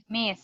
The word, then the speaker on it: Ms: Now, the next title, look, MS. It's the same pronunciation. We say miss.